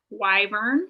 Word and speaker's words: wyvern: Wyvern.